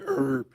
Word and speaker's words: herb: Some people say herb, and in Great Britain, they say herb. They use the H where we don't use the H.